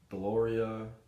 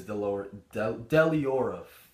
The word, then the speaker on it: Deliora: I feel like it is Deliora.